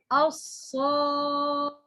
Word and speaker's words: الصادقين: This letter, if this letter heavy, the sound of this alif become heavy. الصادقين, الصادقين.